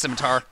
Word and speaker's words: scimitar: adds oh dang it as scimitar but it's pronounced scimitar oh I didn't mean to do that and